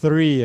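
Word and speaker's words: three: O som do TH, né, João? Exato. Né? O 3 aqui, tem que colocar a língua entre os dentes.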